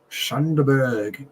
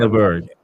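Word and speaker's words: Sander Berge: Wilson, Smith Rowe, and your man, Shanderberg. I said it wrong. Sanderberg, we say in Norway.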